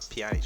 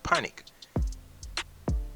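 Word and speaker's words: Pjanić: Crew Pjanic, not Pjanic, why do I keep pronouncing this Pjanic? Crew Panic.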